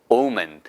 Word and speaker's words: omen: 이런거 그런데 그게 바로 전 좋은 뜻의 on 오멘 이렇게 발음 하시면 되겠다 됐습니다 자정 방법 폭스 팔게요